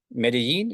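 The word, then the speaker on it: Medellín: I mean, I knew one or two bands out of Medellin. Is that how you pronounce it?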